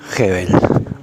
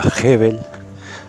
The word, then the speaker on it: Gebel: alemán un apellido llamaban el apellido en realidad se pronunciaría heavel Pero bueno aquí Uruguay Argentina le decimos por costumbre porque es más fácil es más simple no lo sé Bueno